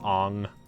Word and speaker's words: Aang: Aang is pronounced Ong.